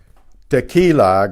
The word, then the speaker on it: tequila: Tequila, go. Tequila, tequila. The Q-U-I is ki.